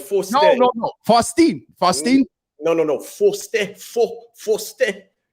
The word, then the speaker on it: Fauston: Oh, you can say Fauston. That's all right, but it's Faustin.